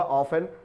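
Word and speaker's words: often: offenofte एन यहां पर टी लिखा तो रहता है लेकिन इसका उच्चारण या प्रनंसीएशन नहीं किया जाता तो ये हुआ ऑफेन प्राय या अक्सर इसकी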